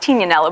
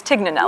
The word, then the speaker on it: Tignanello: from a wine called actually pronounced Tignanello, but everyone says Tignanello.